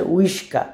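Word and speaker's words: łyżka: সো এটার উচ্চারণ বলে ওরা হচ্ছে উই, উই, শব্দের উচ্চারণ হচ্ছে উইস্কা।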